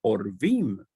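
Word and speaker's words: עורבים: Si esta Ain tuviera este punto vocálico ahí, esta palabra sería pronunciada como Orvim.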